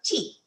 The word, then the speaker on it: Kyi: halfway in between so you have to make your mouth wide like you're saying cheese but you say G and it comes out G and G means clear